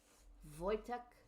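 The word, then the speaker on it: Wojtek: Voytech is how it's pronounced. I believe it. Yeah, it does kind of look like it would be pronounced. Voytech.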